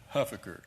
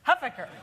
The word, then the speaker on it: Huffaker: And I pronounce it Huffaker. Huffaker.